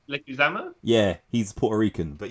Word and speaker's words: Leguizamo: Leguizamo?